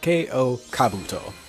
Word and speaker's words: K.O. Kabuto: But to start off with, we're going to be making another Dream Eater, K.O. Kabuto. Yeah, that's the name, and actually how you pronounce it.